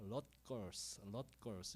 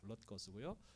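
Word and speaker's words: Rutgers: 예, 저 발음이 어려워요. 럿걸스 이렇게 읽는데 뉴저지에 있는 주립대학입니다. 우리는 뉴저지 주립대학으로 알고 있는데 그 원래 이름이 럿거스고요.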